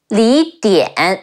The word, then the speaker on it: Li Dian: Next we have, I know some people say like Li Dian. An is pronounced like how people say aunt, but this time it's more like the and in American English. An, D-E-N, Dian, Dian. Li Dian.